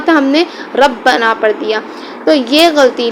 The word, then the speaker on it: ربنا: جیسے ربنا میں جو را تھی ربنا کی را کو موٹا پڑھنا تھا، ہم نے اپنے غلط تلفظ کی وجہ سے اور تجوید سے ناواقفیت کی وجہ سے اسے ربنا پڑھ دیا، ربنا تھا ہم نے ربنا پڑھ دیا.